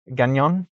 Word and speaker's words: Gagnon: I pronounced it terribly yesterday, and then I learned that it was French, and I was like, oh, that's why I didn't pronounce it right, because it's French.